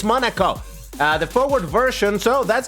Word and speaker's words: Monaco: I've looked it up a couple of times and I still can't remember how to pronounce it, so it's Monaco.